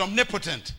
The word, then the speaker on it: omnipotent: one more time and write the word potent right next to it and you create a new word it's the word omn poent we pronounce it omnipotent it's the name God